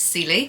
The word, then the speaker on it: Celie: I also think I mispronounced the main character's name in this, so it's not Cecile, it's Celie. So we're following Celie in this, and she's kind of a quieter character, kind of underestimated.